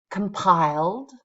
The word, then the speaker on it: compile: You see a lot of our verbs, the ones that have 2 syllables, end with the stress. Consult, compile, exceed. They all have stress on the second syllable.